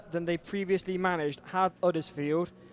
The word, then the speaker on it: Huddersfield: I was about to say, they've gone further than they previously managed, have Huddersfield. I feel the need to remove the H because they don't pronounce it themselves if you're from Huddersfield.